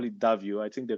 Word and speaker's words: Davio: think Spanish yeah the Spanish people call it davio I think they call David David so the